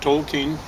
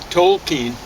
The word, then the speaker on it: Tolkien: His background is, I figured it out, Tolkien would be Tolkien, which is a mispronunciation on my part, of a German name, and sure enough, that's what it was.